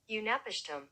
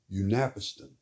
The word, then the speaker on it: Utnapishtim: His name is let me Unapishtim. Unapiston.